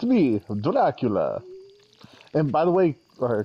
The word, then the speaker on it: Dracula: that it was uh it said dralacula or something it was like um like a different um like pronunciation of Dracula and I was like no that don't hit the same that's wrong all right I'm smelting up